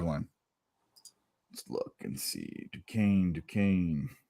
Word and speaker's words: Duquesne: Duquesne. Rhymes with cocaine. Here we go. Not spelled like it, though.